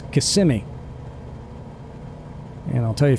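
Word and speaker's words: Kissimmee: syllable so for instance it's not kissm which is how I said it before I knew any better it's KMI and I'll tell you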